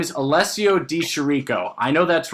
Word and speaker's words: Di Chirico: to I'm just saying his name is Alessio Di Chirico. I know that's wrong. It sounds cooler this way. Chirico. I think it sounds cooler if I say Alessio Di Chirico.